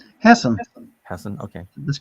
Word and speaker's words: Hassan: So I would humbly suggest to Senator Maggie Hassan. And how do you pronounce her name? Hassan.